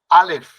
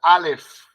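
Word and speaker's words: אָלֶף: Alef. Como si tuviéramos la F al final. Alef. Alef.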